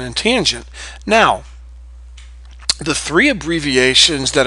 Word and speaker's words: tangent: Co it's cosine and this is tangent short a tangent so please get very used